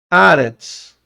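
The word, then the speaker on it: ארץ: Aretz. Já falei, né? Ó. Aretz. Ó. Transliteração. De cima para baixo, direito para esquerda. Ó, temos aqui o Aleph, que é mudo.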